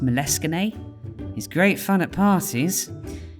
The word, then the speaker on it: Moleskine: looks a little bit like moleskin someone told me once that should be pronounced moleskine he's great fun at